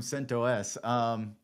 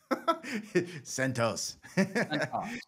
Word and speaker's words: CentOS: From CentOS. Oh my gosh, you made me say it wrong. CentOS.